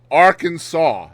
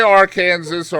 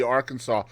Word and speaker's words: Arkansas: Arkansas must be pronounced Arkansas. That is on the books. You can't say Arkansas or Arkansas, or it has to be Arkansas.